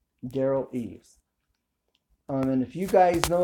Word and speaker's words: Derral Eves: That's Dearl Eves. Derral Eves.